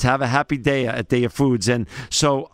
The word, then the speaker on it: Daiya: day and of course you said it's happy dea it's have a happy de at day of foods and so um but how